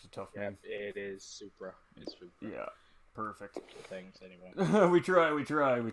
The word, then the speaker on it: Supra: as i said that right that may have mispronounced it's a toughness it is supra yeah perfect things anyway we try we try